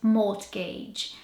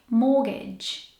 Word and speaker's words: mortgage: start with this word if you were to pronounce this word how it's spelled you'd probably pronounce it more to gauge but the R and the T are silent and the suffix does not sound like age it actually sounds like mortgage not more to gauge mortgage I recommend looking at